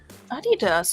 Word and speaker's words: Adidas: Adidas.